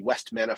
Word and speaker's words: Vestmanna: There's a group called the Ad Hoc Orchestra, and there's a group called Vestmanna Folk, or more in English pronunciation would be Westmanna Folk.